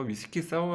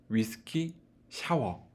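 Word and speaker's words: 위스키 사워: 칵테일은 어떻게 본존불 생각되는데 사람들이 주문할 때 가장 많이 잘못 발음하는 그런 각 테리 기도합니다 뭐라고 읽으시는 요 위스키 샤워 라고 읽으신 경우가 많아요 자매품 으로 리더 오르시아 와 가 있습니다 그래서 이거는 샤워 가면 싸워 인데요 싸워 란 칵테일 종류가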